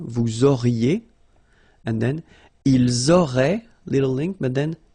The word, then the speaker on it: auraient: Vous auriez, little link between the two, vous auriez, and then, ils auraient, little link, but then, look, A-I-E-N-T like that, and you only pronounce E, like we had here.